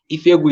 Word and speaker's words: Ifegwu: Ifegu is spelled IFEGWU_MVC. So if you want to get in touch, you can get in touch and I will be glad to connect with you.